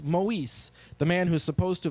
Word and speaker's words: Moise: was the girl of Lionel Moise pronounced Maurice the man who's supposed